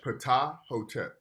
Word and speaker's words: Ptahhotep: Yeah, Ptahhotep. Ptahhotep.